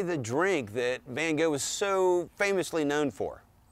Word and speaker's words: van Gogh: So how do you say Vincent van Gogh?